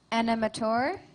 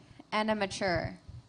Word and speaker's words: animateur: Your word has two pronunciations, animator, animature. Animateur.